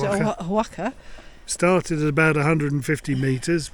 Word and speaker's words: Oaxaca: How do you pronounce it? Oaxaca.